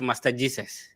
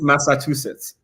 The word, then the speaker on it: Massachusetts: Somebody said you're studying at Master Jesus. It's Massachusetts. Yeah. That's how I pronounce it.